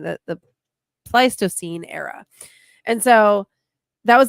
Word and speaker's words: Pleistocene: to pronounce this wrong because I used to pronounce it wrong, and then I found out the correct way of saying that the Pleistocene era.